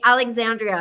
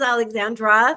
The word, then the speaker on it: Alexandra: for for seven years he's called me Alexandria he put an i on my name like I would be so embarrassed at this point to correct him and say my name is Alexandra there's no I in it and he think how